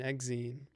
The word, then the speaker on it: exine: hex booty dad uh exceine and rhymes with Gene exine pan pronounce Pawn everybody's